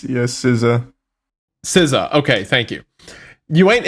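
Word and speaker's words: SZA: big three okay correct me how do you pronounce her name s I always feel like it's siza siza okay thank you you ain't in no big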